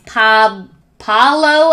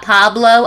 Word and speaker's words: Paolo: She invites Paolo, I guess his name is not Pablo. I've been saying his name wrong this whole series.